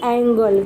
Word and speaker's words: angle: उसके बाद उसके नीचे सेम टू सेम है, बट हम उसे पढ़ेंगे एंगल। क्या पढ़ेंगे? एंगल, ANGLE।